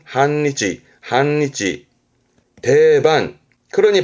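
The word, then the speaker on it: 半日: 발음은 한니치, 한니치.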